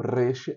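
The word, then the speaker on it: ריש: teimanita ou yemenita, o o reche é um som forte.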